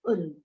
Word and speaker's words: Ulm: This is the German pronunciation Ulm. In fact, English pronunciation of this city is also the same.